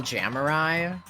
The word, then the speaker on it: Jamurai: It's pronounced real Jamurai.